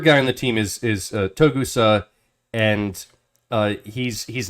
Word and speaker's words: Togusa: I'm probably not pronouncing that the best way. I apologize. Togusa, yeah, Togusa.